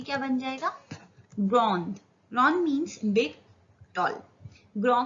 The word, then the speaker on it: gros: जैसे कि ये एग्जाम्पल है ग्रो. GROS, ग्रो. S pronounce नहीं होगा, पर ये जो एस